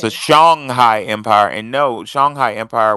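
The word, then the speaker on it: Songhai: did you pronounce it I was taught it was Shanghai sh Shanghai Molly um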